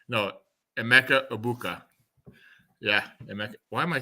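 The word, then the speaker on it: Emeka Egbuka: Rattler, Spencer Rattler, Olave, Shaheed, and Emeka Bububu, like Rob Gronkowski would say. No, Emeka Ibuka.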